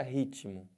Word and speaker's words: ritmo: Eles falam que esse T aqui é mudo, né? Mas não tem nenhuma letra que fala. Então não tem esse negócio de mudo. Se você ouve o T, ele tem som.